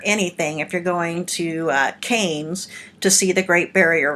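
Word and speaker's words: Cairns: it says karen's with the sea it's actually pronounced Cannes and I've been there that's how I got to the Great Barrier Reef so there's nowhere near anything if you're going to Cannes to see the Great Barrier Reef nevertheless it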